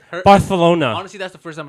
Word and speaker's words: Barcelona: It's not Barcelona. No, it's Barcelona. So wait, like you have a lisp? Barcelona. So the C is like silent.